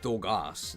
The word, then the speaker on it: Dogars: I don't know why there's an R in there. Because it's just Dogas. There's no R.